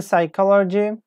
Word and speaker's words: psychology: can you write the psychology okay I am writing it myself yes like we have the P here but we don't pronounce P here psychologists ie